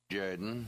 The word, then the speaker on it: Jordan: coach of the Auburn Tiger say it's pronounced Jorden yes yes yes sh Jaden football coach of